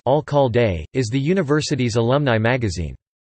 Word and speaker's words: Alcalde: The Alcalde, founded in 1913 and pronounced Alcalde, is the university's alumni magazine.